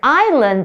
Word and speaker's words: island: because as you know the word island the s is silent but that s there